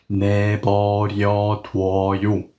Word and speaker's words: 내버려 둬요: add an extra vowel and form a double vowel that no longer sounds like oo, but now sounds like wa. Very similar to when you say walk in English, of course without the K sound at the end.